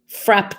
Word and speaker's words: frappe: else declared already was happy frap day or frappe day you can pronounce it either way i checked um in some